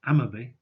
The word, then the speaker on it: Amotherby: Slingsby, close to Hotham, and Amotherby, pronounced Ammerby, further east. The first parts of these three names, the specifics, are all Old Norse personal names. This close-up of Ammerby, named after someone called